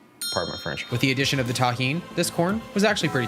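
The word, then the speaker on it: Tajín: the deliciousness of Tajin yeah that's how you pronounce it delicious with the addition of the Tajin this corn was actually pretty tasty with only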